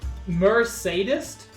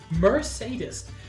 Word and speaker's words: Mercedes: you by hi Keck uh hello Merc Mercedes oh Lord I uh mercades Mercedes sorry that is an amazing name you're clear